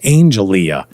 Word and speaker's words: Angelia: told him her name, I think it was Angelia is how she pronounced it.